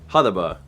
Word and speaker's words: Hutahbah: A special shout out to, Hudaba. I believe it's pronounced Hudaba, for producing that.